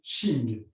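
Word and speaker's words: Qing: On ne prononcera que le son Ching, Q-I-N-G, pour ramener le chi à l'intérieur.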